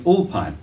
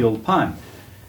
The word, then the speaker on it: Ulpan: Ulpan in Hebrews gets tricky because they usually accent the last syllable.